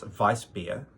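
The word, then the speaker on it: Weissbier: Um and it's her favorite beer style which is it's vice beer. uh or if uh you were to spell it phonetically, Weiss beer, but it's uh vicein.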